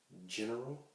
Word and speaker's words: general: And also G before E or I is pronounced like the H in hen, like we spoke about earlier. General in Spanish, how would that be?